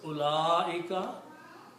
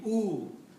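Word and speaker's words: أولئك: pronounced and read, because this waw in the middle after the first letter alif has a little circle on it, which means you are not supposed to pronounce this waw.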